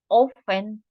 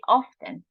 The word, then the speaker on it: often: It's common to say, well, not common, but it's used to say often. It's accepted too, the pronunciation often. But it's the most common is often. But often can be correct too.